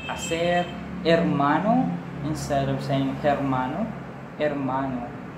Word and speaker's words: hermano: Spanish okay income robeson-el H is basically pronounced silent we don't say H okay no problem with a like a share hermano instead of st.